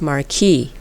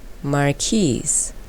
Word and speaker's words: marquise: i thought this shape was this which i pronounce marquis i mean it made sense to me a marquee is a position of nobility and the shape is very noble but it's actually this which is pronounced marquise and it took me a while to be